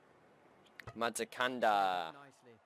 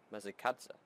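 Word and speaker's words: Masakadza: Matakanda. That's not how you pronounce it though. It's Matakatsa.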